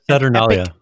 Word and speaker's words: Saturnalia: Had the pronunciation there. Now it is Saturnalia.